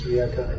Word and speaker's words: Rijeka: No, because in Croatian it's Rijeka. Yeah, that's it. Slovenian it's Reka. Slavonic.